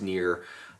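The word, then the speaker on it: Nier: to uh to uh the game called near n i e r pronounced near uh for the uh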